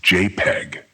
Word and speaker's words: JPEG: a relatively small size the name jpeg is pronounced jpeg JPEG files can be identified by their file